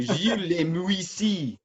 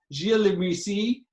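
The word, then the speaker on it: Gilles Li Muisis: historian, so Max will tell us how to pronounce the name of this person. I will do no such thing. Gilles Le Muissi. Perfect. Gilles Le Muissi, from the 1340s.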